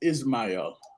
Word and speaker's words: Ismael: I want to say Ishmael, but how do you say your name? Because I I, always kill people's names. my name is Ismael.